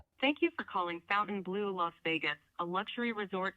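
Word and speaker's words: Fontainebleau: Please learn the correct pronunciation of Fountain Blue. You continue to say it like Fountain, but you're supposed to say Fountain Blue or like Vegas Poly C says, Fountain Blow.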